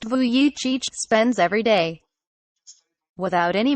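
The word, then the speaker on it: Vujicic: however is exactly how nicholas voyage pronounced vuichich spends every day without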